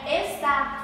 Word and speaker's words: está: E a palavrinha está tem um pronunciamento mais aberto por ter o acento agudo.